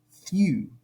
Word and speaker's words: θυ: Theta Upsilon few now a lot of people have trouble pronouncing that EU as in few but here's one trick to maybe help with that when you say the English word cheese like when you're taking a picture